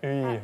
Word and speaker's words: 의: 의. 왜냐면 의 글자 하나인데 그 발음이 완전 달라요. 네. 학생의 가방, 의사. 의 다른 발음거든요.